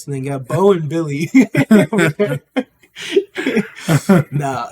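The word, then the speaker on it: Willy: you got both something you got Bo and Billy no it's uh yeah no I I this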